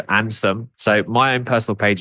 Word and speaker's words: Andsom: So if you imagine, for those listening, it's handsome without the H and without the E. So Ansom.